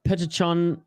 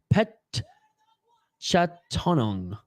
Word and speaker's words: Petchtanong: everything going on in the broadcast here uh petrichon or sorry pet I always mispronounce his name when I try to say it quickly pet chatonong who's oh my God an absolute absolute insane